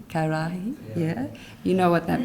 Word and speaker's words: ka arahi: 11 Toi Tū Toi Ora ka arahi, have I pronounced? Karahi, yeah, you know what that means.